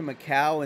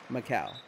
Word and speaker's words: Macau: monte carlo yeah yeah macau but you know yeah spelled it correctly it's kind of like pronounced like my cow was better first off